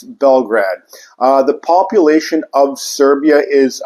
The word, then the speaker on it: Belgrade: But the proper pronunciation is Belgrade, which translates to white city in Serbian language, because Bel is white and Grad is city.